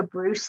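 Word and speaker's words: Breus: ourselves more efficiently and Bruce is spelled b-r-e-u-s so Bruce like Zeus and he uh has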